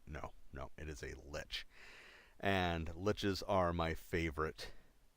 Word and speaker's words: lich: Now, some people argue it's supposed to be pronounced lick. I disagree. I think lick doesn't sound nearly as cool. Lich sounds cool. Lick sounds far, far less intimidating.